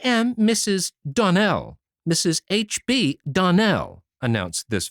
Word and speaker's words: Donnell: Clarice Elmyra told me that you pronounced our name Donald. Now, Miss Shirley, the correct pronunciation of our name is Donell, accent on the last syllable.